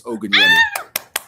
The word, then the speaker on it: Ogunyemi: But it's pronounced, and last name is Ogunyemi.